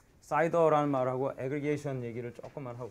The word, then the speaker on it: CIDR: 하고 넘어가고 싶은데 그 사이더라는 말하고 애그리게이션 얘기를 조금만 하고 갈게요. CIDR인데 지난번에 한 얘기랑 좀 연관이 있습니다. 이게 발음이 사이더로 그냥 읽어요. 사이더.